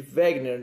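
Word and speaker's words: Wegener: chamado Wagner beleza e chama de Wagner nesse escreve né então esse alemão né Alfred wegner ele escreveu essa teoria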